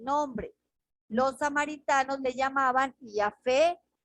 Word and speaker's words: Yahvé: pronunciación corrupta del lenguaje, aunque la pronunciación original samaritana era Yahvé, que significa el hermoso. Por lo tanto, la pronunciación del nombre divino como Yahweh no es correcto, especialmente si se basa